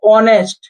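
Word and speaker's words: honest: এরপর দেখো তাহলে এখানে কি হবে, এখানে কি উচ্চারণ হচ্ছে? অনেস্ট। কি উচ্চারণ হচ্ছে? অনেস্ট। তাহলে এখানে এজের উচ্চারণ হচ্ছে কি? না।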